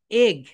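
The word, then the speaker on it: egg: এগ। এটা right pronunciation কি বলতো my dear soldiers? এগ। এগ। এগ। আমরা কিন্তু ইগ বলি, কি বলবো বলতো?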